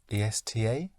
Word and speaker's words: esta: ESTA? Yes. ESTA. But ESTA, I would pronounce esta. Like in esta noche.